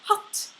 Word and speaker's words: hatt: However, if you have a double consonant, then it's a short vowel, so it would be pronounced hatt if there were two T's, which means hat. So you have hat versus hatt.